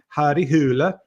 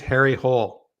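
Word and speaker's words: Harry Hole: like his name is Harry Hull oh I didn't know that I've always just thought it was Harry hle which is like yeah it's it's not pronounced that way in Norwegian it's I think it's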